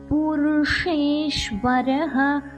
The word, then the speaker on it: புருஷேஸ்வரஹ: பிரதான புருஷேஸ்வரஹ, ஷே நாக்க மடிச்சு சொல்லணும். இஷ் சாஃப்டான இஷ். புருஷேஸ்வரஹ நாரசிம்ஹ வப்புஷ், நார சிம்ஹ வப்புஷ்.